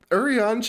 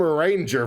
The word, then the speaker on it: Urianger: That Urianger is pronounced like French? I was calling him a ranger for the longest time. Everyone did. Elves in this game, Elysian, they're French.